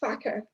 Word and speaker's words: Farquhar: We know up here that you actually pronounce it facker. Now, there's obviously reasons why they did this, because there are probably complaints going to Ofcom if they pronounce it the Scottish way.